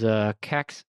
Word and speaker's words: Kangxi: Under this guy, this is Kaxi, and it's spelled Kangxi.